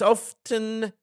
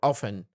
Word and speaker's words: often: so this means that the two variations of the pronunciation are okay avoid it because the